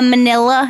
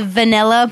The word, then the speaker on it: manila: So I think it is either a computer file folder now or a manila. Is that how you say it? Yep. Yes. I usually say vanilla, but I've been working on it.